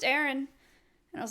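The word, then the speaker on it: Aryne: paperwork for my house her name is Aaron it's spelled a-r-y-n-e so that just made me think of that bizarre I like I didn't know how to I didn't know how to say it and so and she was like oh it's just Aaron and I was like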